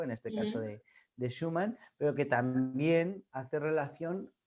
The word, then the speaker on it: Schumann: En el capítulo de Schumann, ¿lo pronuncio bien? ¿Se dice Schumann?